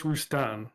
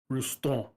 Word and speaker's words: Roustan: It's pronounced Roustan. That's actually the bastardized American way of saying it. The absolute correct pronunciation is French, and it's like Roustan.